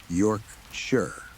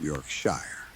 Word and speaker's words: Yorkshire: For any Americans reading this, Yorkshire is pronounced more like Yorkshire, not Yorkshshire.